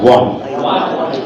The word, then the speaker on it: won: to pronounce I own scholar scholarship I won pronounce it one Bangladesh won the match commentators say so Inspire